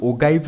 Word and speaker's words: ogive: cumulative frequency को आमे ओगाइव बोली कहू सिंपली ओगाइव बोली कहू तार स्पेलिंग हैला OGIVE ओगाइव बोली कहू बुझा पड़ला